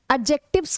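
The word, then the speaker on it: adjective: वो आते हैं हमारे एडजेक्टिव्स के अंतर्गत। किसके अंतर्गत आते हैं? एडजेक्टिव्स। एडजेक्टिव नहीं होता है। डी साइलेंट होता है।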